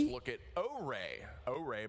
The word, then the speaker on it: Ore: Ore, by the way, is how that's pronounced if you were wondering.